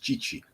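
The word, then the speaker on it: Tite: but what they've done under chichi t-i-t-e but pronounced chichi he is a well-renowned and reputable coach he's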